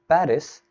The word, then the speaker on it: Paris: text and you say in paris they pronounce it as pari and why did i say pari instead of paris because i think that's how they pronounce it in france right i would just you